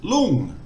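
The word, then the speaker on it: ลุง: So again, we have the ngongu final consonant, which makes an NG sound. You can continue voicing it, so it's a live syllable. We've got the short O vowel, and the initial consonant is lo ling, which is low class. So because it's low class and a live syllable, it just makes a mid-tone.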